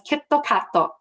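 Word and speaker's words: キットカット: Kit Kat, which is pronounced in Japanese as Kitto Katto, is easily the most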